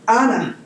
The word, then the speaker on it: Anah: Anah? Anna. Honest. Anna.